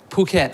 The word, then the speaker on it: Phuket: I went, am I pronouncing it right? Phuket? Phuket.